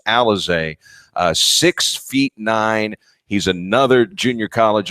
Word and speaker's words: Alize: Spells his name Alize, but it's pronounced Alize.